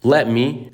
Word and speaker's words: let me: Let me اللي هو دعني، let me. وبالمناسبة ما بنقولش let me، ما بننطقش صوت الت، بنقول let me كأنها مكتوبة كده من غير الت.